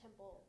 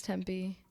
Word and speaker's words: Tempe: That's how you say it? I thought it was Temple. No, it's Tempe.